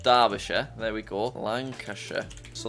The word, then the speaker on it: Derbyshire: Derbyshire, which I think is pronounced Derbyshire.